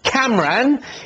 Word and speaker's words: Camran: Did I get the pronunciation of the name right there? Yeah, just Cameron is fine.